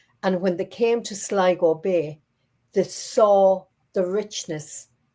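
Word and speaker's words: Sligo: Now Siggo, the county of Siggo, the Irish name for it is Schliggo.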